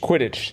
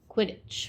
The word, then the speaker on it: Quidditch: Quidditch.